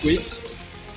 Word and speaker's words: Kwik: mémoire Jim quick oui le nom c'est quick comme fast quick mais ça s'écrit pas